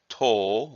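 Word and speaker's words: 刀: for this character is toll with a long Oh sound and that as used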